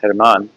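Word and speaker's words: Germán: His name is Hermman, spelled like German, but pronounced Hermon.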